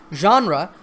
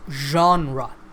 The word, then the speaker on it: genre: Genre is a word that means a style of art, music, literature, or film. It's pronounced genre.